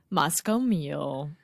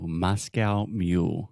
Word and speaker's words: Moscow Mule: years now which one Moscoe meal Oh Moscow Mule yeah so Alexia has had a very difficult time pronouncing this for the last three or four years so let's - come on okay let's just try together Moscow Moscow Moscow Moscow okay so the first sound is ma with a very open